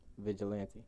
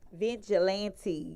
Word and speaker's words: Vigilante: to pronounce your name vigilante vigilante yes so it is pronounced how it spell because a million people